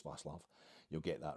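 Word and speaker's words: Václav: It's not Vaclav, it's Vaclav.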